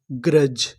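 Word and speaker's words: grudge: ग्रज। ग्रज। ग्रज का मतलब होता है ईर्ष्या। यहां पर जो बीच में यू लिखा है वो हमारा साइलेंट रहेगा। यू का उच्चारण हमें नहीं करना।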